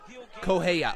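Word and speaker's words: Correia: Conheya is how you say it. Heya? Koheya. Oh, Koheya. Okay, so Koheya.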